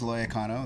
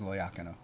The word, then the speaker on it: Loiacono: that I was raised saying is Loiacano. That's the way I say it. But the proper pronunciation is Loiacano.